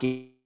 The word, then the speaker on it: Saki: Sake. It's like alcohol.